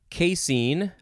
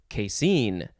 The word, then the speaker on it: casein: into a case book next is casein or casein you could emphasize either syllable it is spelled c-a-s-e-i-n-casein noun from 1841.